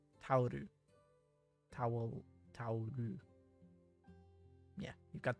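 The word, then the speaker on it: タオル: Sounds like towel. Tauru.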